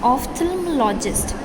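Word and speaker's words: ophthalmologist: ऑफ्थल्मोलॉजिस्ट, इसको ऐसे pronounce करेंगे, ठीक है बेटा.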